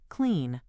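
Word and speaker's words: Cline: He could even have done this from the command line with tools like GitHub Copilot CLI or KLEN, which I am told is pronounced clean.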